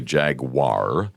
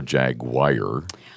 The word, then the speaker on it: jaguar: I mean, you look at the spelling and you'd think it'd be jaguar. Right? UAR. But so I've heard people literally say it like it's a wire, like a jaguar.